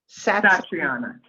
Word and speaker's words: Satriana: Pronounce it for me, Alison. Satriana.